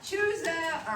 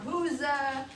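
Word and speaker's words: Chuza: her and her husband, it's either Chusa or Huza. Some of the people I listened to pronounced it Huza, and some pronounced it Chusa. It's easier to say Chusa because that's what it looks like.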